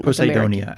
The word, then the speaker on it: Poseidonia: Po I'm not sure where you'd put the stress. Poseidon. Poseidonia. Poseidenia. Posidinia. So you get it. Poseidonia. Is that how you say it in Poseidonia? Actually, so reading my own notes here. It's Poseidonia, but it's after Poseidon.